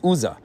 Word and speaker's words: Uzzah: It's spelled with the Vav in one place, and that's why he's known as Uzzah.